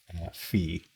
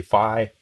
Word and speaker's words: phi: row theta y so some people use a long i there and some people say fee some people say fee some people say phi don't ask me which is correct most english speakers say phi i'll probably mix them